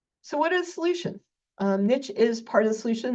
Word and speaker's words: niche: And so niche, and I always pronounce niche with an invisible T for the reason on the left.